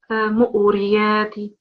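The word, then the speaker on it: مُورِيَاتِ: It's not with a ayn sound. It's just mu'riyati.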